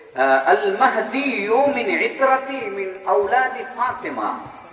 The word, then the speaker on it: মাহদী: ইমাম মেহেদী আসলে আল মাহদী, আমরা মেহেদী বলি আর কি।